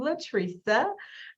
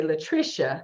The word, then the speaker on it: Latresa: I say it's kind of like people often say Latricia because it's spelled that way, but I put the phonics in everything so people understand it's like a tree and then sa.